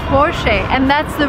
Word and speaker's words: Porsche: the car is called forche and that's the right way to pronounce it because it's a German name the stress goes to the first part of the word and we say forche remember Never Say Never